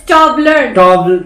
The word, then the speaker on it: Toblerone: Just pronunciation Tumblr right? It's Toblerone.